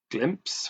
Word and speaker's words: Glympse: One of the main ones I've known is Glympse, which is a program that you can get on generally on general app stores. It's spelt slightly differently from the actual word glimpse, but Glympse, and that's